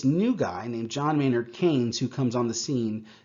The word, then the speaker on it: Keynes: name is keynes just just know that it's pronounced keynes okay so keynesian economics just literally means mixed